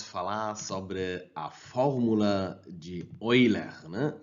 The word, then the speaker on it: Euler: Esse nome aqui, eu como um alemão, eu pronuncio ele como Euler. Euler é a pronúncia certa, né? Porque eu sou alemão e eu sei como pronunciar nomes alemães.